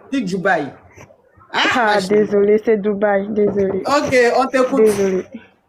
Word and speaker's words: Dubaï: vit dans un pays tu s même pas prononcéou Dubaï ah désolé c'est Dubaï désolé ok on t'coute désolé h ah là